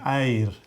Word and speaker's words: Eir: That's a woman's name, Eir. A-I-R.